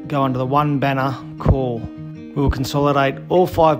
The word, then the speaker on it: CORPS: It's pronounced Kaur.